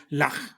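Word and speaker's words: Llach: Lach, pronúnciese, si se pronuncia como Bach sería Lach, Así que es.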